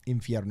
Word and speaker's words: infierno: All right, or the Inferno, or Infierno is how you say it in Spanish, or hell.